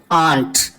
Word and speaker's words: aren't: பட் ஆர் நாட்டை வந்து நம்ம சுருக்கும் போது ஆண்ட் ஆண்ட் அப்படின்னு சொல்லிட்டு சுருக்கலாம். ஆண்ட் அதாவது நம்ம எப்படி இதை ப்ரொனவுன்ஸ் பண்ணணும் அப்படின்னா, நம்ம அத்தைக்கு வந்து இங்கிலீஷ்ல சொல்லுவோம் இல்லையா, ஆண்ட் அப்படின்னு சொல்லுவோம் இல்லையா. ஸோ கிட்டத்தட்ட அதே ப்ரொனன்சியேஷன் தான்.